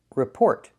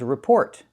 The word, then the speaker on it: report: end is silent and in the second word the t at the end is not silent. We pronounce the t again. The first word is rapport and the second word is report.